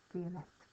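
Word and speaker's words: violette: purple, so violet becomes violet. Okay, we pronounce the T on the end when it's feminine.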